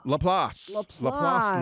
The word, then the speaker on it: LaPlace: Am I pronouncing that right? LaPlace, Louisiana. I was down there in June, and I was driving around getting pictures of big stuff like I do.